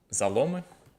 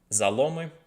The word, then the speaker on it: заломы: So, that is uh "Zalome". That's right, right? That's Let me uh let me get my uh I think the stress is on the O even in the plural, but yeah. "Zalome" and the artist there is Daily Liar.